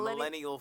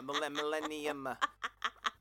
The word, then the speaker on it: Millennium: Millennia, did I say it right? Yeah, you said Millennial Falcon. That would be in the last 3 years. No, Millennium.